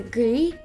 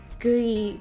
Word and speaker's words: Gris: Gris is Ham, but but you want to pronounce the S when it's Grimsley, but you pronounce it silently gri when it's French.